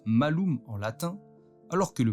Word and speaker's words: malum: Il est possible que l'image moderne de la pomme provienne du fait que le mot pomme se prononce malum en latin, alors que le mot mal se prononce malus.